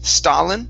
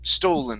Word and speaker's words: stolen: here um okay um instead of saying stalin star it's stow stolen no okay it's totally